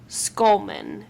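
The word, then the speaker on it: Schulman: opened in 1948 by David skull skullman and that's spelled s c h u l m an so it's not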